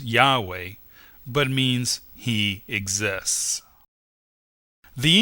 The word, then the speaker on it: Yahweh: found it to be the four Hebrew letters yod he VAV and he usually pronounced as Yahweh but means he exists